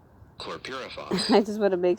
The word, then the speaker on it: chlorpyrifos: And I'm going to let the Merriam-Webster pronounce it here. Let me see. Chlorpyrifos. Chlorpyrifos.